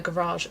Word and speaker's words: garage: Why does she say garage? It's garage. Like I've got no issue with Americans saying that, but like if you're living in here, it's a garage. It's a garage. I know she says it the American way and I'm like, why?